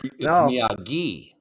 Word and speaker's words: Miyagi: Well, at the thing, they were saying Miyagi, and it's Miyagi. Yeah, like gi, like the hard G. Yeah, like the suit.